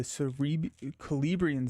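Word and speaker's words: Celebrían: We have the Celebrian Stone. It's a hard. So see, that sounds like a K.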